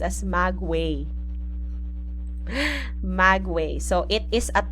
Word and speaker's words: maguey: right so wait Magway oh this one is pronounced as Magway Magway so it is a type of plant